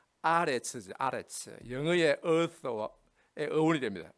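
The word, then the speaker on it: ארץ: 이 히브리어의 땅이란 말은 보통 에레츠, 원래 발음은 아레츠죠.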